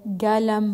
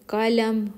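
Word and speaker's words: قلم: Sa formal na Arabic or formal Arabic, ginagamit nila ay qalam. Sa Saudi dialect naman, pinopronounce nila ito ng galam. Imbis na ka, ga. Sa Arabic Fusha or formal Arabic ay ka, qalam. Sa Saudi dialect ay galam.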